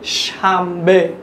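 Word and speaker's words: شنبه: ফার্সিতে শনিবারকে বলা হয় শামবে। আপনারা খুব ভালোভাবে যারা মাদ্রাসার ছাত্র তারা জানেন যে এইখানে যে বর্ণটা লেখা রয়েছে সেটা হচ্ছে নুন, কিন্তু আমরা উচ্চারণ করছি মিমের মতো শামবে, উচ্চারণ করছি কি শামবে, শামবে মানে শনিবার।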